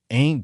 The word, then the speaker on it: Aunt: She said to me, "If I take you home to Aunt Gladys, pronounced like Ain't Gladys, covered in blood, I'll be in bigger trouble than you ever seen, boy."